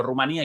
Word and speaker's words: Rumanía: El nombre de este país europeo presenta en español dos acentuaciones, ambas válidas. Por eso la diferencia entre e Juan Antonio llamándolo Rumanía y Yo Rumania, la